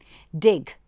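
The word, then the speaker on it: Digg: Dig, which is spelled as D-I-G-G.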